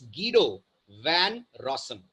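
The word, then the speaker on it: Guido van Rossum: not pronounced as गुडो his name is गडो वन रसम right nationality wise Denmark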